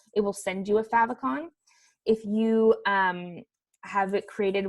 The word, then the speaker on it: favicon: this is where we're gonna let's go into favicon so that's how that's pronounced fav icon favicon this is the little image in the